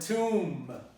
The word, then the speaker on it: tomb: This might occur in the word tomb. Tomb, comb. So every time there's a ma and a ba, you're going to pronounce only the ma.